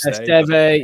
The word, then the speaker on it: Esteve: Was it Steve? Is that how you pronounce it? Esteve, yeah.